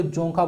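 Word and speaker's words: Dzongkha: है भूटान का तो इसको जोखा बोलते हैं डी साइलेंट होता है जोखा जो है से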